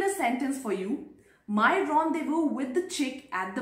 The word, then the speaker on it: rendezvous: Fourth word is rendezvous. So the spelling of rendezvous is very different from its pronunciation, and that is how quirky this French language is.